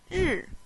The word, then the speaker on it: 日: The pronunciation is 日.